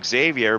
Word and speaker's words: Xavier: number 13 car uh well it's Xavier but without pronouncing the R so I'm not really